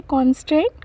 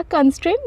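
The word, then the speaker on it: constraint: सो हमारा आज का पहला वर्ड है कॉन्स्ट्रेंट। कॉन्स्ट्रेंट या कंस्ट्रेंट दोनों प्रोनाउंस कर सकते हैं, कंस्ट्रेंट या कॉन्स्ट्रेंट।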